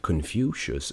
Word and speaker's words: Confucius: con confucius produce this is three syllables confucius if i'm not mistaken